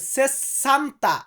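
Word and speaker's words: sessanta: বলবো 60 এটাকে আমরা ইতালিতে বলবো সেসান্তা সেসান্তা উচ্চারণটা সঠিক হবে সেসান্তা আরেকটা আছে সেতান্তা সেতান্তা মানে 70 আর সেসান্তা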